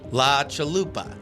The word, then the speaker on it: chalupa: La Chalupa.